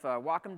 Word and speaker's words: Wacom: I am a fan of Wacom devices, and I'm saying it correctly, by the way, in case anybody ever wondered how you say that word. It's not Wacom, it's not Wacom, it's Wacom.